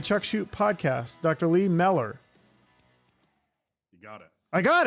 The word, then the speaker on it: Mellor: all right dr lee miller how are you doing i am fantastic you pronounce my name right it only took me two tries yeah yeah it's okay mellor like propeller yeah okay that's how